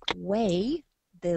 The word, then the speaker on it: weight: We weigh the luggage. Weigh the luggage. Natomiast słowo waga ma dodatkowo jeszcze głoskę t w wymowie.